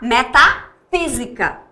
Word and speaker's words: metafísica: E se a tonicidade for aqui, e é, eu vou pronunciar metafísica.